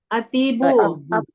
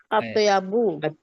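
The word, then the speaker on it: أطيب: Apa? Atibu. Atyabu. Ya, atyabu. Ya, betul. Atyabu.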